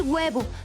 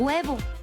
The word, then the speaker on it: huevo: Por ejemplo, al decir huevo, no pronunciamos una H fuerte al inicio, por eso no podemos escribir solo escuchando.